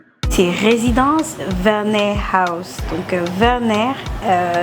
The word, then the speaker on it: Werner: résidence Werner house donc Werner ça s'écrit avec W mais ça se prononce comme un V donc Werner house pourquoi